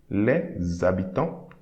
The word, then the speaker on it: habitants: The next line, okay, we say we are not going to pronounce the H, but there will be a liaison between this S and A. And liaison made by the letter S will create a sound Z. Okay, so les habitants.